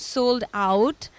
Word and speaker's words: Soul'd Out: and today we're here with a band called sold out um how do you spell your band's name guys it's spelled s o u l apostrophe D out